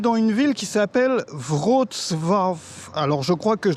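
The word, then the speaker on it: Wrocław: On est dans une ville qui s'appelle Votv. Alors, je crois que je l'ai prononcé bien. Ça s'écrit Row et ça se prononce Votf.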